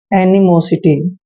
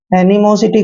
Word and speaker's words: animosity: अब देखिए एम को मैं पढ़ते हैं, ओ को ओ की मात्रा पढ़ते हैं, एस का उच्चारण श करना है, आई को ई की मात्रा पढ़ते हैं, टी को ट पढ़ना